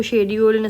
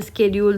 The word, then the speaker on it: schedule: ठीक है, आप इसको शेड्यूल स्केड्यूल दोनों भी प्रोनाउंस कर सकते हैं.